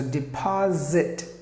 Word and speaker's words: deposit: Here it is E, like E. D, the S must be Z sound. So deposit. That's the word. That's the way you have to pronounce it perfectly.